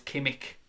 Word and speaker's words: Kimmich: I'm going to say it my way just to annoy you. Kimmich. Even though I know it's Kimmich.